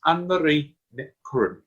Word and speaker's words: Annemarie Ní Churreáin: It's Annemarie Ní Churreáin.